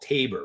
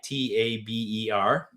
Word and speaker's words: Taber: There's a town south of us called Tabor, right? Taber.